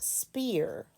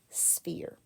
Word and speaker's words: sphere: It's the sphere, and this is pronounced, it's not spear like you would hunt buffalo with. It's a sphere.